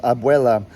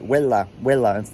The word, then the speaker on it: abuela: And grandma in Spanish, because we're Spanish speaking primarily, grandma in Spanish is abuela, but my cousin Stephanie, when she was little, couldn't pronounce it right, so she would say like huela instead of abuela.